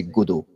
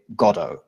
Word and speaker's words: Godot: In French, we say Godot. The English say Godot. The Americans say Godot. And you can also say Godot.